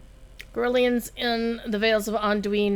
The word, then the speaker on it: Anduin: But according to Cordovan, when they were recording voiceover for the Vales, he was told by those who would know that it's Anduin.